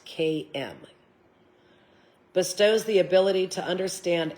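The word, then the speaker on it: Camio: It's spelt like cameo, but pronounced KM.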